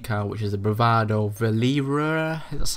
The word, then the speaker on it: Verlierer: the new DLC car, which is the Bravado Verlierer. That's how you pronounce it.